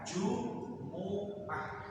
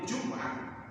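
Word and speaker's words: جمعة: tahu aslinya bahasa Arab menggunakan Jumuah ini hati-hati yang baca al-quran karena banyak yang salah biasanya yaina aman Jumah ini bacaan imam Kalau membaca seperti itu maka bacanya tidak pas Yaumul Jumuah nanti bisa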